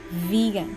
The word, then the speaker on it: vegan: that's shigatsu okay so the first one is vegan did i pronounce it correctly okay in english vegan so that's a v sound in the in